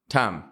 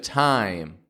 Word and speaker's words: time: and the Glide e we combine those two positions together to make the sound I now what most non-native English speakers do is omit the Glide they only pronounce the pure vowel part they only go ah I want this time what time is it time instead of time what time is it